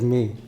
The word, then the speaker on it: मे: This is me. It should be pronounced as me.